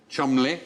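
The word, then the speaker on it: Cholmondeley: f Shaw yes did you know that was pronounced I didn't know CH Chumley the second one CH maning as in maning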